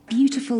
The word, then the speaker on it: beautiful: Beautiful land. Beautiful. প্রথম syllable কেন হলো? কারণ এটা মূলত ওয়ার্ড ছিল beauty, right? তো beauty তো noun, so first syllable হবে তখন beautiful.